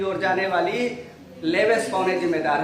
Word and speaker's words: Leveche: Spain में लेवेस, CHE spelling है last में, लेकिन लेवेस कहेंगे, LEVECHE, लेवेस।